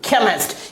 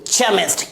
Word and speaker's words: chemist: CHEMIST, केमिस्ट। यहां पर इसे क्या प्रोनाउंस कर रहे हैं हम लोग, केमिस्ट, ना कि चेमिस्ट।